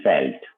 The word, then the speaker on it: veldt: इसको हम बोलते हैं फेल्ट, VELDT, वी की प्रोनाउंसिएशन हम करते हैं एफ से, राइट? जैसे हम मतलब फॉक्स वैगन बोलते हैं कार को, है ना, वॉक्स वैगन नहीं बोलते, राइट?